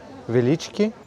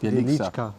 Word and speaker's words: Wieliczka: Wieliczki? It's a salt mine. Salt mine, Wieliczka.